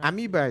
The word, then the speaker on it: amoeba: Amiba is the right pronunciation.